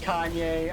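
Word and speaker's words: Kainé: Yeah, it'd be pronounced Kane. Kaine. Yeah. Alright, Metroid, Yeah. kill him. She's hot. Throw it in, not me! Oh, let's try something else. Is it actually pronounced Kanye?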